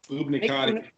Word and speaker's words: Buoniconti: get, because I would remember if someone had pronounced this name correctly, is Nick Buoniconti with the Miami Dolphins, who is actually, yeah, Buoniconti.